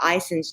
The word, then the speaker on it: Ison's: we also went by Ison's nursery it's is ons and they say it like that too so I'm saying it right we went by there